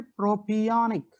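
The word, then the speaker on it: propionic: ये एसिड है, ये एसिड का नाम है प्रोपियोनिक एसिड। प्रोपियोनिक एसिड, काफी लोग प्रोपायोनिक भी प्रोनाउंस करते हैं, मैं प्रोपियोनिक इसलिए कहना चाहता हूं तो आप बराबर से लिख पाएंगे।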